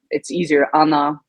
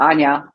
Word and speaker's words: Anna: I totally understand if we don't want to use the Polish uh pronunciation Anna sure um I'm okay or Anya that's that's also fine you have multiple names